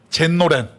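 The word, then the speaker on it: 全労連: 전 노련을 만나러 갔어요 그것을 일본 발음으로 젠로렌 이렇게 얘기해요 도대체 어떤 남자입니까 일본에는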